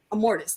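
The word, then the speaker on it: Immortus: hat that's that that's am mortise am mortise sorry I was saying the name wrong am mortise that's his name okay yeah because I'm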